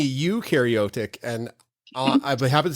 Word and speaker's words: eukaryotic: no for prokaryotic and you is you and me eukaryotic and i'll i have